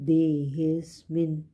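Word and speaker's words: देहि अस्मिन्: हुआ है देहि स्मिन इसमें दे हे ए की मात्रा के बाद एस साइलेंट है और आधा स आएगा देहिस मिन देहे प्लस अस्मिन अस्मिन का मतलब इस देह का मतलब मनुष्य शरीर देहि स्मन यह ध्यान रखना है देह सिमन नहीं बोलना देह स्मिन इ के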